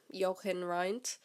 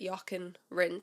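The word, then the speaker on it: Jochen Rindt: of the week was yaken rent I've been pronouncing his name since I first heard of for the last few years in as Yin R because obviously once again I just read about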